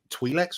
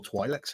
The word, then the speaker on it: Twi'leks: I was like, I love Twi'leks or Twi'leks, however you want to pronounce it. Either way is fine.